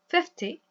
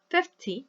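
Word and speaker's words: fifty: So in this case, we say 50, 50, very short at the end.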